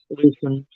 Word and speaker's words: Lucian: Um, so I guess I just wanted to go over a little bit about what's going on with, how do you pronounce it? Lucian? Lucian.